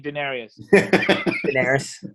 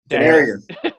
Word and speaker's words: Daenerys: Stop saying Daenerys. Daenerys. Say it right.